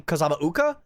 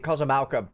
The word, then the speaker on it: Kozama'uka: So my pronunciation usually ends up being Kozama'uka, but that's not correct. They've been pronouncing it Kozama'uka basically in the story the whole time.